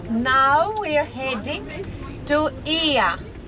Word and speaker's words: Oia: Because in Greek language we have 5 different ways to pronounce the letter E. Difficult. So O. I and A, the OY pronounces E, and the right one is IA, not OIA.